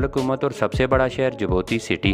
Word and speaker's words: Djibouti: पाए जाते हैं दोस्तों यह मुल्क इंग्लिश में डेजी बूटी पढ़ा जाता है जबकि मुकामी जुबान में जिबोती पढ़ा और लिखा जा जाता है इसमें डी साइलेंट हो जाता है यह मुल्क 1887x मछलियों